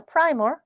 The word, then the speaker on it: primer: 아 이거 primer라고 읽어야 됩니다. primer.